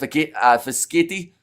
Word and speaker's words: Fischetti: It's pronounced Fischetti.